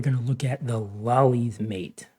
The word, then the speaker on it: Lolli: Today we're going to look at the lolli's mate. I guess you could pronounce it lowly, but lolli sounds nicer somehow.